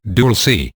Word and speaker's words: Dulce: place there near the small town of Dulce, pronounced Dulce, New Mexico.